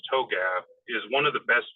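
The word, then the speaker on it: TOGAF: the open group architecture framework to GF it's pronounced toab is one of the best tools that's never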